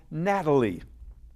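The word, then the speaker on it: Gnatalie: the largest everland animal is being called Natalie that's spelled with the first letter G because the paleontologist who discovered her were bothered by so many of these GS yours gats there were so many NS all over them they said we're going to call this thing Natalie but we're going to spell spell it with a G nice listening five more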